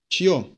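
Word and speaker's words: чьё: Чье. Че, soft sign, yo.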